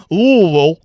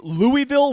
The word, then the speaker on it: Louisville: update they're here in L Kentucky if you don't know if if you say Louisville with vows you don't know how to say it's a there are no vows in the name L and you need